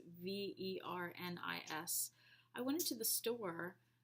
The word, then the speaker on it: Vernis: Is it Verni? I don't know. It's Vernis.